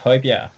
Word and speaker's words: Højbjerg: It's pronounced Højbjerg, the team I'm part of now.